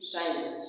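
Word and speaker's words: science: देखिए सी कब साइलेंट है, यदि यस के बाद सी आ जाएगा तो जो सी हमारा होगा एकदम चुप हो जाएगा, हिलना मत, एकदम अपने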